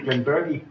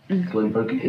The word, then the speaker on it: Glenburgie: GlenBurgie. What are you getting on the nose? GlenBurgie. What are you getting? mostly bourbon. Very straight bourbon. No, it's not silent R, you pronounce the R.